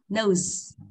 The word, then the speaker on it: nose: Không đọc nâu không mà z ở cuối này, nose. Nose. Đã không xì hoàn toàn, nó có chút âm nose.